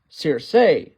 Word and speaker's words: Circe: by a Amazonian sorceress by the name of Circe, or as it's pronounced in the show, Circe.